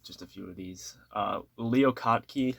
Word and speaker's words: Leo Kottke: Leo Kottke, I believe is how it's pronounced.